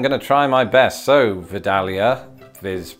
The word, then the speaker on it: Vidalia: doesn't work for anybody I think the the emphasis though is probably going to be on that middle syllable so Vidalia Vidalia there's Dal again Roald